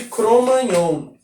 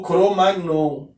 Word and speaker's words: Cro-Magnon: o homem chamado de Homem de Cro-Magnon, ou Cro-Magnon, depende aí a pronúncia, as duas pronúncias são corretas.